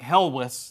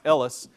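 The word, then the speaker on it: Helwys: Ellis which is uh spelled a little different looks like hellis to us but that's probably pronounced Ellis and Thomas Ellis ends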